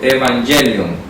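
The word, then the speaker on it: εὐαγγέλιον: Voy a ponerlo con Y para que lo pronunciemos en griego. Evangelion, así se dice en griego.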